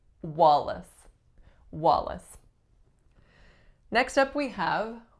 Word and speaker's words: Wallace: we have Wallace Wallace two syllables first vowel is aa second syllable is what Wallace it's a schwa and a trick with this one is that la c e is the word lace but we don't say wha lace we say Wallace